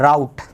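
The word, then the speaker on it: route: रट क्या जाएगा राउट इसको रट पढ़ते हैं कि राउट पढ़ते है राउट राउट रोड भी नहीं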